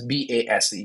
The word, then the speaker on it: BAYSE: BAYSE, but pronounced as BASE, BASE.